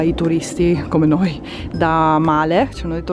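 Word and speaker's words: Malé: turisti, come noi, da Male, ci hanno detto, non si dice Male, la capitale delle Maldive, ma Male, e vi porta qui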